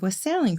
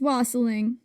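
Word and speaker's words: wassailing: And this is where we get the tradition of was sailing from. It's wasling rhymes with bossling.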